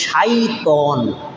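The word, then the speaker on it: شيطان: আলোচনা করব ইনশাআল্লাহ আসুন শয়তান এটা হলো আমরা বাংলায় ব্যবহার করতে করতে বাংলা বানায় ফেলছি কিন্তু আসলে শব্দটা বাংলা না শব্দটা হলো আরবি শয়তান কিন্তু অরজিনাল শব্দটার উচ্চারণ হলো শাইতন শিন ইয়া ত আলিফ নুন শাইতন একবচন বহুবচনে শায়াতিন শয়তান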